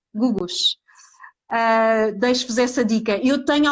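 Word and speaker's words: Googoosh: Gugush, é Googosh. Acho que é assim, Gugush.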